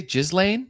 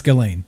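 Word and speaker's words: Ghislaine: so it turns out how do you say jiz Lane is it is it really jiz Lane no it's it's it's galain it's the S is silence galain Maxwell is how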